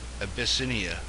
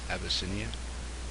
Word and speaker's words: Abyssinia: this area right here Abyssinia a bit like abyss senior Abyssinia I guess it's how you say it now it's called Ethiopia